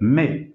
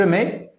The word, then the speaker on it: mets: la manière suivante je mets attention on ne prononce ni le T ni le S ce sont des lettres muettes tu met même chose